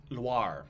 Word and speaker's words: Loire: Not noir. Loire.